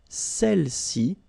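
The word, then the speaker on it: celles-ci: Feminine plural, celle-ci. Okay, don't pronounce the final S. Celle-ci, celle-là.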